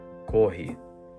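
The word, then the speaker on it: コーヒー: For example, this word right here is pronounced kohi, meaning coffee.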